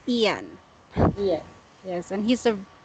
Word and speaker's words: Ian: yeah yes yeah okay some are pronouncing this word is ion but for British people it's Ian yeah yes and he's